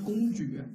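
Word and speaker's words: 公举: 왜냐면팬들은왕자고너무존중해 팬 생된왕자고내공주이라고 공주 一定是要发音发公举，OK，不是公主，公举。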